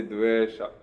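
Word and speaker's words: dveṣa: In Sanskrit, is there a short O? No. There's no dvesha. You can't say dvesha in Sanskrit. You can only say dvesha.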